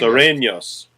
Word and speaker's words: Sureños: How do you say it? Sorrentos, the Southies. Sureños. Oh, Serenios. Sureños. Yes.